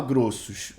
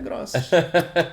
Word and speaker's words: Grossos: É grossos. Aí acabou. Porque o certo seria grosso, normal, como pronuncia. Seria grosso a pronúncia. Grosso, por exato, isso, seria grosso.